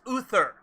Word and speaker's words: Uther: be getting confused here it's pronounced uther and he unfortunately passed